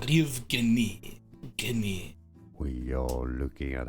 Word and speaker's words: Yevgeny: Yevgeny is how it's said in Russian and so in English. Yevgeny. Stress on the second syllable. Yevgeny.